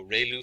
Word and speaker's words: ReLU: we have the ReLU, it's pronounced like ray, the ray from the sun, and lu, like a name, so ReLU function.